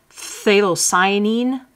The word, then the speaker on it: phthalocyanine: Make like you're gonna say a word that starts with F and then just barely say the F and go right into the TH. So here's how you're gonna say this word. Phthalocyanine blue. So I kind of exaggerated the beginning there a bit. So phthalocyanine blue. So you sort of say the PH, but just a hint of it.